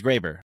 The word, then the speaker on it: Graber: name right is it Graber yeah it's it's Graber okay it see our last name is pretty